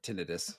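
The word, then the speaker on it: tinnitus: mean does the Wim Hoff method cause tenius tinitus that's the way you pronounced it correctly yeah and absolutely um there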